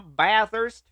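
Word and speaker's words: Bathurst: Baist. It's pronounced ba'ist.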